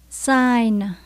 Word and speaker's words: sign: Sign là triệu chứng, dấu hiệu hoặc là biểu hiện. Mình thấy chữ N cuối cùng nha các bạn.